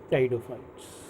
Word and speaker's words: Pteridophytes: Next topic टाइडोफाइट्स। टाइडोफाइट में आपको ये ध्यान रखना है कि टाइडोफाइट में पी साइलेंट रहता है जब टाइडोफाइट हम लिखते हैं।